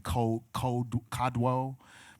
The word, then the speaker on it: Kodwo: And I think you might pronounce his name Kodwo, but I always call him Kojo because Detroit.